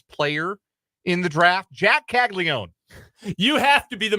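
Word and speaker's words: Caglianone: his name is not castig Leone what what is it kagon kagon I'm sorry yes yes uh the there is an a an in the middle of the name that is silent Jack kago is the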